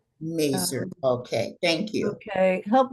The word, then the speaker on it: Mazur: can share it easier thank you uh Dr mazour you should have um sharing capabilities am I pronouncing your last name correctly oh I'll answer to anything but it's actually merer merer okay thank you okay help me out how